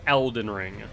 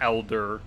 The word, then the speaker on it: Elden Ring: do you pronounce it it's elden ring not elder i i'm pretty sure